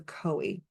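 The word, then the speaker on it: khoe: of libation um and it's called the koi which is spelled k h o e um if you're trying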